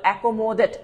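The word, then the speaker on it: accommodate: দুইটা দুইটা করে আছে তাহলে একমোডেট একম মডেট আপনি জাস্ট এভাবে ভেঙ্গে ভেঙ্গে করবেন একম একম এটা একটা আরেকটা হচ্ছে মডেট বা মডেট আমরা যেটাকে বলে থাকি একম মডেট এই টাইপের একম মডেট উচ্চারণ একটু ভেঙ্গে এভাবে করলে দেখবেন যে সহজ হচ্ছে একম মডেট একমশনের দরকার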